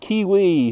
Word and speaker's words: kiwi: Take the New Zealand kiwi, whose name rhymes with peewee.